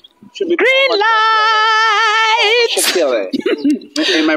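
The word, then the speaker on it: Mashatile: Mashatiller. Am I pronouncing it correctly? Yes, yes, it's Paul Mashatiller.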